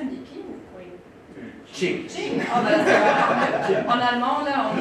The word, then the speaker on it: Qing: Qing. En allemand, là, on prononce encore autrement.